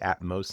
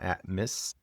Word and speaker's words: Atmos: and representatives from Alaska Airlines are now Atmos and that's how they pronounced it atmost not at miss.